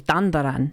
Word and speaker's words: Dandadan: In her pinned tweet, also providing context to her role in Dandadan, saying that she's the English voice of It's Dandaran. That's how you say it.